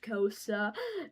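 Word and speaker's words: Xhosa: And yes, it's pronounced Kosa there.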